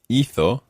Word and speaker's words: hizo: But with hizo, the stress is on the first syllable.